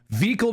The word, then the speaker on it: Vikul: Vikul's okay, but Vikul is the official pronunciation.